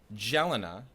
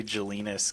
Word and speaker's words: Jelena: Yeah, I'm just glad you didn't say Jelinas, because that was what that was the awkward high school rhyme.